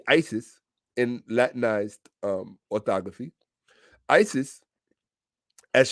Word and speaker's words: Isis: Isis, or if you really want to pronounce it correctly, Isi, or you would say the word easy, like easy come, easy go, easy, because the correct phonetic pronunciation of the original term would be ase, and the Greeks corrupted it to easy.